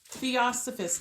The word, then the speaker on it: Theosophists: So not theologians, but Theosophists. It's Theo. S-O-Phist. P-H-I-S-T. Theosophist.